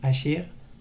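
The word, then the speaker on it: אשר: Donc asher, il faut faire attention à le prononcer avec un ségol si c'est possible, asher et pas asher qui est le prénom.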